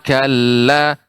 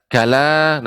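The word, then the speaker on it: كَلَّا: bukan semakalah ibu akan tapi ada tasydid pada lam Summa Kalla Kalla di sini ada adanya tasydid Kalla tidak kalah demikian sekali lagi Ibu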